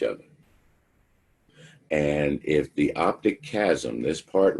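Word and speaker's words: chiasm: a too many eyes because it's not spelled how it's pronounced it's pronounced chasm the optic chasm this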